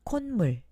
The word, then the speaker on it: 콧물: 다음 콧물, 감기에 걸려서 콧물이 나요. 다음 꽃무늬, 꽃무늬 원피스를 샀어요. 여러분, 어떻게 발음하는지 알겠어요?